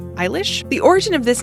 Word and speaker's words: Eilish: entire video of Billy let's ensure you're pronouncing part of her name correctly ish it's like Irish but iish the origin of this